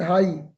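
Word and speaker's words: high: एच आई जे एच हाई एच आई जे एच हाई तो जे यहां पे silent है और एच की हल्की साउंड है हाई इन द स्काई परिंदे आसमान में ऊपर उड़ रहे हैं।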